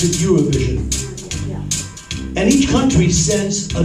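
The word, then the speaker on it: Eurovision: a song contest called AO Vision or they pronounce it euro vision and each country sends a new song that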